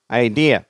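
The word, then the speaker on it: idea: கோலங்கள் அது அடுத்தது ஐடியா ஐடியா சரியா இரண்டாவது syllable stress ஐடியா next imagination சரியா இமேஜினேஷன்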